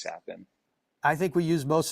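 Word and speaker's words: Capan: for him um so I've gotten Capen sapen uh kappen I've I've gotten all the above so I usually just kind of roll with whatever but the correct pronunciation is is sapin I think we use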